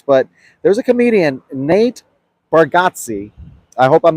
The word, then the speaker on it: Bargatze: there's a comedian, Nate Bargatze. I hope I'm not Bargatze. Bargatze. Pronounce Bargatze. My New York comes out, I would have said Bargatze, right? But that's not how you say it.